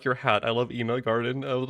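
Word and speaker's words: Ina Garten: See, I even got the name wrong. Ina Garden. But they say it like Garden on TV. Okay, Ina Garden.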